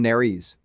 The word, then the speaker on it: nares: ES at the end of a word may be pronounced as a separate syllable, as in nares.